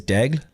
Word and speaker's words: Daigle: Well, it's a little tricky in proper French pronunciation, because it is a French Canadian last name. It is Daigle. So there's like a little bit of a roll of the tongue there for the GLE, but in all fairness,